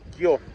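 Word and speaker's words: きょう: están habituados al idioma, eso se dice kyo. Quienes estudian japonés saben que se escribe con la sílaba ki, luego se escribe una sílaba yo, que tiene que ser de un tamaño más pequeño, la famosa yo chiquita, y luego una u.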